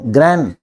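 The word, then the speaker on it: grand: अरे रांड मदर नहीं, ग्रैंड, और डी साइलेंट रहता है, ग्रैंड मदर। डी पे जोर नहीं देना, बताया था ना, LTRD सॉफ्ट बोले जाते हैं।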